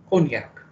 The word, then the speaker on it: cognac: mind term for smoking konyak pronounced as cognac cognac is a brandy made